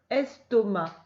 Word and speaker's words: estomac: s, t, o, to, et le c ne se prononce pas, ma, estomac.